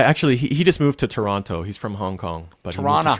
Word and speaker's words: Toronto: So I actually he just moved to Toronto. He's from Hong Kong, but he moved to Toronto. Toronto. You got to say it right. It's Toronto. Tirana. We don't say Toronto. We say Toronto.